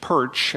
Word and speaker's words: Pyrcz: It's Ukrainian. You just say it like the fish, Pyrcz, and you get an A for that, 100% for that.